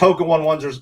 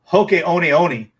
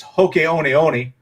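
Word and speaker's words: Hoka One One: And then some, most Hoka 11s are, it's actually Hoka Oni Oni. We've been pronouncing it wrong. I learned that yesterday when I was researching them. It's Hoka Oni Oni, but all us Americans say Hoka 11s, but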